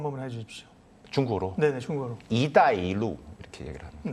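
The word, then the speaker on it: 一带一路: 1대1로, 저희는 1대1로라고 발음하는데 발음 한 번만 해주십시오. 중국어로? 네네, 중국어로. 이다이루 이렇게 얘기를 합니다.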